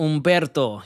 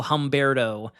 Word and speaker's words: Humberto: You got to let it roll, Humberto. You got to let the R roll off. We can't go Humberto.